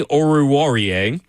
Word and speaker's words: Oruwariye: Amani Oruwariye. Oruwariye. Warrior. There it is. All right, there you go. Warrior. Yeah, I had to follow his there we list. go. So I could Okay. So it's kind of pronounced how it's spelled.